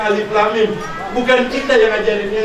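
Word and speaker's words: الم: Enggak dibaca alama. Enggak, tapi dibacanya alif lam mim.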